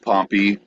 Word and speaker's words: Pompey: the town is pronounced Pompeii. He's pronounced Pompey.